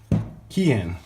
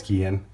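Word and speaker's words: Keihin: and check out why kyun pwk 38 millimeter least I think it's key in I'm pronouncing that wrong someone will correct me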